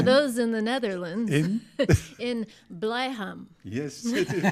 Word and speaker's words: Blijham: But tomorrow night, for those in the Netherlands, in Blijham. Yes, it is pronounced good.